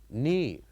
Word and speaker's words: knee: So here we don't we have one silent letter which is k. And in this case, if you want to say this word, we uh don't say uh K. We say knee.